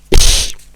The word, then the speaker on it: ich: Quando io ho studiato tedesco a scuola, io ero l'unico nella mia classe che faceva lo sforzo di pronunciare ich, perché tutti invece pronunciavano, tutti quelli che studiano il tedesco e non vogliono impegnarsi pronunciano questo ich come sh.